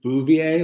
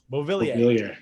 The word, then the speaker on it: Beauvillier: Is it Bouvier? Like Marge Bouvier? What is it? It's Bouvier? I don't know. Beauvillier. Yeah, that's what it is.